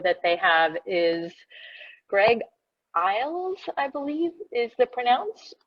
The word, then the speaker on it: Iles: And the fifth author that they have is Greg Iles, I believe is the pronunciation.